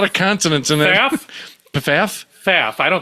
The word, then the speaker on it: Pfaff: Faff. I think the first P is silent.